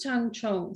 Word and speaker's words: tangzhong: sorry about that um it's pronounced tang chong so essentially i have